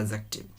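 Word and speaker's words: adjective: लेकिन जब हम एडजेक्टिव बोल रहे हैं तो ए और जे के बीच का जो डी रहता है वो क्या होता है? साइलेंट हो जाता है, हम इसे बोलते हैं एडजेक्टिव।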